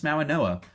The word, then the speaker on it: Mauigoa: Yeah, I think like the G in Polynesian pronunciation, I think that's kind of a More of an N sound.